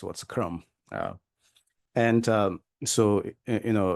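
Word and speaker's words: कर्म: you know um karma in English is a karma is a uh English kind of pronunciation the actual Sanskrit word is Kum you know when you write in English then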